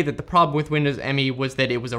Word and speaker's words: Windows Me: So starting off with number 7, we have Windows ME, officially pronounced Windows Me.